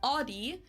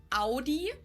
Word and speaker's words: Audi: Most Americans that I know pronounce it like I just said it, Audi. In German, we say Audi. Audi.